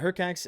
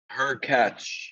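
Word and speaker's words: Hurkacz: Is it Hercax and Musetti? Her catch. Her Hercatch.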